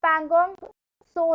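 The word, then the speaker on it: Pangong Tso: Okay, moving टू the next, we have पैंगोंग सो lake, T is silent hair.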